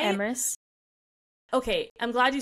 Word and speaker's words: Emrys: I called him Emrys. Like, I think I went back and forth. Name, as if his name was spelled E-M... E-R-I-E-S, even though that's not even how it's spelled, Emrys. That's how I pronounced it. And it wasn't until I was today years old that I even considered it was pronounced Emrys.